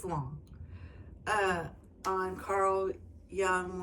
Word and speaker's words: Jung: uh on Carl Young, which way I always say his name wrong. I think the Jay's quiet.